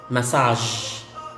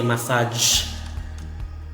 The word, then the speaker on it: massage: Okay, as in massage, massage. So you don't say massage because the sound is not g, but j.